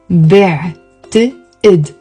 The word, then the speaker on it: بعتقد: بعتقد. There is a عين and a قاف pronounced as a أ.